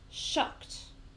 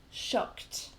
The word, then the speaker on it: shocked: one is shocked shocked so shocked actually just has one syllable one sound let me get my pen okay so what's important about this word is the ad at the end actually makes at sound shocked shocked okay so we don't